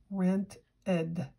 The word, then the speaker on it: rented: in the past and the sound is rent Edie it adds a syllable so now that's a two syllable word rent Edie when you have a T at the end of a word and you add the suffix Edie it adds another syllable so let's try another